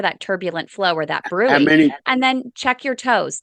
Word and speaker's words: bruit: You say, "Hey, doc, check for a bruit." It's spelled brute, B-R-U-I-T. Check for a bruit.